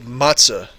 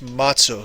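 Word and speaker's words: matzo: I I probably did I said matah and it's it pronounced Mato so I apologize to my Jewish friends uh celebrating Passover that I said Mato wrong I apologize sh shabbat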